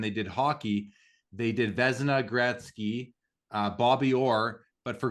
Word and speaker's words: Vezina: The Venusia maybe would be one. Is that how you say his name? The Vezina.